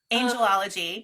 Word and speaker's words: Angelology: it danielle let's say angelology angelology yeah i put the emphasis on angel angel i feel like every